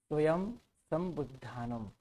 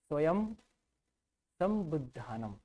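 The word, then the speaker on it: स्वयंसम्बुद्धानम्: बात हुई थी य हमको बोलना है स्वयं सम बुधानम म का उच्चारण करना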